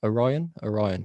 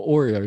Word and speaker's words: Orion: I've met, and Orion, I can never say his name. Orion. There is a mod Orion. Yes, I'm going to go with that one because I kept calling him Oreo the first time I met him